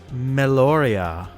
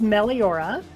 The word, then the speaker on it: Meliora: person today it is meloria oh oh so close all the pronunciation that's okay it's meliora um it's phonetic it's pronounced exactly as it's spelled but you can just